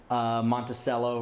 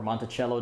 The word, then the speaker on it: Monticello: And the best way to do that, of course, is to make sure that the mint mark is above Monticello or Monticello, depending on how you pronounce it.